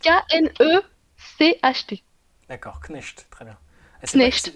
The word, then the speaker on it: Knecht: Dalton Knecht, Comment ça Knecht, s'écrit? Knecht. K-N-E-C-H-T.